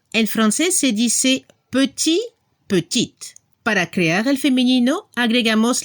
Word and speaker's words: petit: Para la pronunciación, la última consonante se debe escuchar al femenino. Al masculino, il est petit. En femenino, elle est petite. Se escucha la T al final.